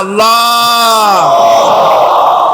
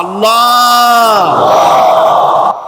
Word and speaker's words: আল্লাহ: মুখটা একটু গোল হয়ে যাবে, বলেন আল্লাহ আল্লাহ আল্লাহ।